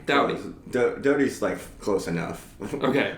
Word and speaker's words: Doughty: Doughty. Doughty's close enough. Okay. I get people that'll go Daughtry, and there's not an R.